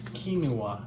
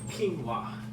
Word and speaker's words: quinoa: that um let's see I used to say kinoa k kinoa but I think it's quinoa like two syllables we're going to wash